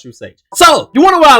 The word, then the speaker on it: True Sage: It's still pronounced True Sage.